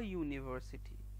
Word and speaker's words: university: There are also exceptions when the vowel sound U sounds like U. Example, a university or a utensil, instead of saying an university or an utensil.